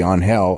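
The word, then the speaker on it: Ángel: Because obviously Zelina is going to, pronounce it the Latino way, which would be on hell, unless she was specifically told not to.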